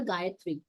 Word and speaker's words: Gayatri: And I have a request to you all because, because of our pronunciation, Mother Gayatri, I didn't say Jia, it was Mother Gayatri.